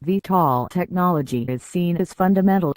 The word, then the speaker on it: VTOL: This type of VTOL pronounced VTOL technology is seen as fundamental to the creation of an aerial taxi service, as envisioned by Uber and others.